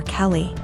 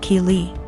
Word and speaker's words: Keeley: I realized she was calling my daughter Kelly my daughter's name is Keeley pronounced Keeley so after school was